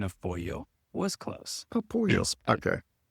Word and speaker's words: pollo: Chicken is polo. Your pronunciation of pollo was close.